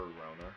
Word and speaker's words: Rona: Or Rona, depending on who you ask, on how it's pronounced. Not sure what the pronunciation is really supposed to be for it.